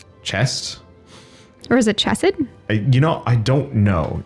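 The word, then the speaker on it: Chesed: one of the Sethro so it is hessed is the smell of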